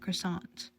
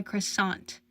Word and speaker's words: croissant: how to handle my croissant atushi crossed his arms offended you're just stupid janit churro frowned it's obviously pronounced without the T dumbass what's next are